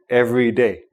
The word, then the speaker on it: every day: Every day, you pronounce both syllables of the first of the words every day. And there's a little bit of a pause in between.